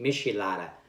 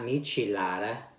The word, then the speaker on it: michelada: this time I mean I'm always calling a Mishi Mishi Lada not michelada you guys can't believe